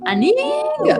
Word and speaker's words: Anhinga: We've got the Northern Shoveler and the Anhinga. Aninga. Ooh. That's how you say it.